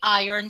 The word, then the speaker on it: iron: is the other way please remember to say iron so that it will rhyme with lion advertisers advertise advertisement will